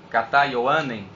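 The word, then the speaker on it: Κατὰ Ἰωάννην: aqui que eu copiei, Kata Ioanen, que é a pronúncia no grego, que quer dizer segundo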